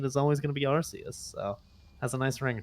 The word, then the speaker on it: Arceus: was gonna be pronunciation arceus versus arceus because when i watched the japanese trailer they pronounced it with the soft c but the english trailer